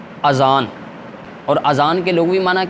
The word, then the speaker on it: اذان: رسول ہوں۔ اسی طرح بعض لوگ اس کا جو تلفظ کرتے ہیں نا آذان کر دیتے ہیں، اصل میں آذان نہیں ہے، اذان ہے۔ درست تلفظ کیا ہے؟ اذان۔ اور اذان کے لغوی معنی کیا ہے؟